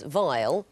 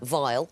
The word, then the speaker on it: vial: It's not while, it's vial, for vial rather than file.